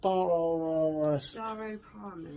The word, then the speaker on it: Staropramen: Against Staropramen, I believe. Staropramen. That's the pronunciation.